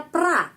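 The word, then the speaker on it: про: sini awalan kata kerja Pro Tapi bacanya pra Kenapa karena penekanan berada di sini karena itu O kalau O tidak dapat penekanan membaca a ya praawalan kata kerja itu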